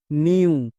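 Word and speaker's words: new: এন এর জন্য দন্তন, ই ডব্লু, এটা হচ্ছে ভাওয়েল ব্লেন্ডিং ওয়ার্ড, এর জন্য সাউন্ড হয় ইউ। তাহলে দন্তন প্লাস ইউ কি হয়ে যাবে? নিউ।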